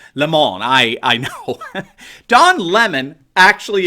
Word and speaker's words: Lemon: remember Don Lemon and yes I know he pronounce it Lamoni I know Don Lemon